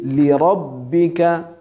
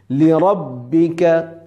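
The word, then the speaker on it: لربك: খেয়াল রাখতে হবে যে প্রথম লি হলো একটা শব্দের শেষ দ্বিতীয় লি হল আরেকটা শব্দের শুরু তাহলে কিভাবে পড়তে হবে ফাসলি লিরববিকা প্রথমে আমরা ভেঙ্গে ভেঙ্গে পড়বো পড়ে ঠিক করে নিব উচ্চারণটা লিরববিকা ও এরপরে যখন আমরা দ্রুত চালু করে পড়বো তখন খেয়াল রাখতে হবে যে প্রথম লিতে টান না হয়ে যায়।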